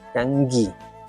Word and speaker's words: kangi: Sí, ali kangi. Ya la pronunciación. Ojo, kangi.